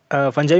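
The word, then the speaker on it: fungi: Well, तो आप लोग जानते हैं कि फंजाई में होता है न्यूक्लियस। फंजाई फंगाई आप लोगों का प्रोनाउंसिएशन है, ओके, कंफ्यूज नहीं होना, फंजाई फंगाई एक ही है।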